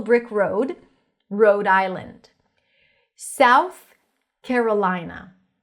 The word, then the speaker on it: Carolina: And again, it's an A, so technically it's the as in cat. Carolina, Carolina, before an R, it shifts to an E, Carolina, Carolina.